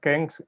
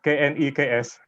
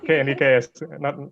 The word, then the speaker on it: KNEKS: The name of our organization is not KENGS, but KNEKS. Okay, I was trying to pronounce it. I'm sorry. Yeah, so just KNEKS. It is not a word, it is abbreviation actually.